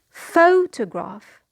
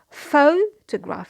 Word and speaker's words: photograph: the next word is photograph. Photograph, it means a picture. Photograph. So here 3 syllables and the stressed syllable is the first one.